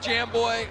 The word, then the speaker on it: Jamboy: Jamboy, it's pronounced Jamboy, okay.